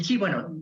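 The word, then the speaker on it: qi: es en sí el chip en con la transición que usamos actualmente el pinyin se escribe con q pero la apropiación es es coche es el chip que es el chip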